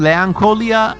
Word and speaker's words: Leanchoilia: Actually, I will say, like, I think Leancholia, and the way to spell it is Leanchoilia, Leanchoilia.